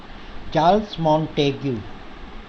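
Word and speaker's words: Montesquieu: चार्ल्स मॉन्टेग्यू जो है, spelling इसकी थोड़ी टिपिकल है तो, लेकिन इसका जो प्रोनाउंसिएशन करोगे आप, इसको जो बोलोगे वो चार्ल्स मॉन्टेग्यू है।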